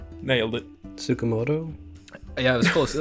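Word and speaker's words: Tsukamoto: um sha I I should not even try pronouncing it shinya t Sakamoto nailed it sukamoto yeah it was close it was good enough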